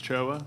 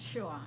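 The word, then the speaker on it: Shaw: So the lady, Ms. Choa, did I pronounce it right? Ms. Shua, Shua. S-H-A-W. Shua. Okay, I apologize.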